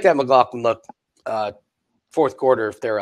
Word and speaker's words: McLaughlin: McLaughlin, yeah.